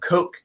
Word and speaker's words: Koch: Um, to the Coke family. Like the Coca-Cola family? No. Coke.